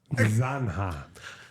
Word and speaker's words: zanja: Zanja. Una qué? Zanja. Una zanja. Zanzibar? Like... Careful, you don't fall in the Zanzibar. La Zanja. Zanja. Oh, la zanja. La zanja. Sí, Ditch. ten cuidado con la zanja.